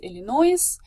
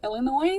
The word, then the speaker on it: Illinois: So, for example, students uh usually pronounce the state as Illinois uh instead of Illinois.